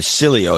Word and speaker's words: Cilio: First off, it's Italian. Americans never get the pronunciation correct unless they have a Romance language background. Their correct pronunciation is like this. Cilio. Okay. Steven Cilio is the way I